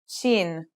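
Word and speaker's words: شين: The next letter we learn is shin. This one is pronounced just like the English sh in the word shovel.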